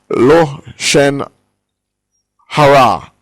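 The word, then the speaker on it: lashon hara: And so what happened was that Gehazi, again, the evil speech, or lo shen hara, as it is pronounced in Hebrew, the evil speech not only gossip.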